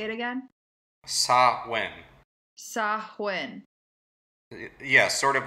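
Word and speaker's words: Samhain: of swin and also if you're just going to pronounce it as it looks like it's spelled it's Sam Hayne ah wait can you say how you correctly say it again sa win sahin yeah sort of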